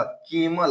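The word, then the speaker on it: camel: देखिए सी ए है तो के हो गया, एम से मो हो गया, ई है तो ई का उच्चारण नहीं होगा क्योंकि कॉन्सोनेंट के बाद ई है, तो के म एल से ल, केमल।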